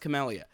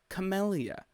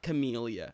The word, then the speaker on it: Camellia: the camellia romance and it is pronounced camellia because i just started playing through the game again third playthrough uh i just started playing through the game again and when she introduces herself in that rift created by discari's rift breaker thing scythe um she pronounces her name as camellia not camellia so i was incorrect